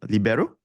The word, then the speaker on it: libero: I think like Italians don't pronounce the I as the I. Mm. It's a E sound, right? Yeah. Yep. Yep. So libero. I stand Libero.